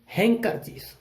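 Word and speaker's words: handkerchief: तो हम इसको क्या पढ़ते थे, हैंड करचीफ, और आगे से हम इसको क्या पढ़ेंगे, डी साइलेंट, हैंड करचीफ। डी की ध्वनि नहीं आएगी।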